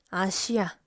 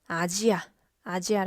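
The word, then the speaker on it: アジア: 한국어로는 " 아시아 " 라고 발음 하지만 , 일본어로 는 " 아지아 " 라고 발음 합니다 .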